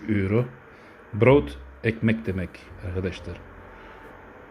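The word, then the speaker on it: brood: tane almışım 3 euro broth ekmek demek arkadaşlar bir tane o olsa bot denir ama iki tane o konduğu için bro oluyor o uzatıyorsunuz D'de sona geldi mi T gibi gibi okunur ben değil DT gibi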